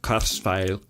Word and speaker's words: Kurzweil: work Kurzweil he used a cursor that's actually pronounced Curtis value of course k2 500x keyboard I'm gonna use